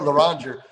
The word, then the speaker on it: Loranger: You say it Loranger.